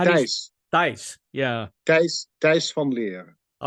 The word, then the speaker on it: Thijs: How do you pronounce it? Is it this? What? How do you? Thijs.